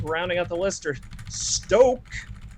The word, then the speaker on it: Stok: out the list are stoke there's there's a long o on that uh international delight they